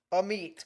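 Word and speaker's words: Amite: A meat. Gotcha. A meat. See, I looked at it and thought, usually M-I-T-E. I is pronounced I, but nope.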